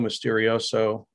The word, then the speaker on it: Misterioso: It's called Radio Misterioso, RadioMisterioso. It's spelled like Spanish, Misterioso.